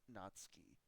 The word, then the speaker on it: Natsuki: guy and he's like it's actually pronounced natski anyways um anyways yes